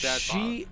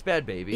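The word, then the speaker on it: Bhad Bhabie: Pronounced Baby? I thought it was Bad Bob. She, it's Bad Baby. Yeah, it had like an H in it.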